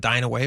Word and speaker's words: Dyneema: So I was looking into this a little bit that Nippon Dyne It's Nippon Dyneema is how you pronounce it?